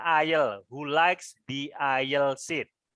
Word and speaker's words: aisle: Kamu tadi nggak perhatikan cara bacanya ya. Ini dibaca aisle.